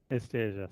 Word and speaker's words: esteja: All the Esteja J's have a esteja, sim. is like the j sound.